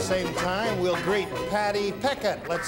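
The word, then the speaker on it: Pechet: Is that Patty Pichet or Peckett? Patty Peckett is her name. That's it's spelled cute.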